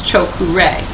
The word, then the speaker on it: Cho-Ku-Rei: This is how you pronounce Cho-Ku-Rei. It's 3 syllables. Cho, C-H-O, Ku, K-U, and Rei.